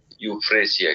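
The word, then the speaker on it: Euphrasia: इसकी स्पेलिंग ई से शुरू होती है, यूफ्रेसिया की, EUPRSHA, यूफ्रेसिया।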